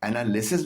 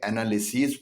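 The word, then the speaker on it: analyses: بن جاتا ہے انالیسیز۔ ایسے پلورلز کی پروننسیشن پر خاص توجہ دیجیے گا، اس کا تلفظ اس کے بجائے ایز نکلتا ہے، یعنی انالیسس کا پلورل ای ایس لگانے کے بعد انالیسس نہیں پڑھا جاتا ہے بلکہ انالیسیز پڑھا جاتا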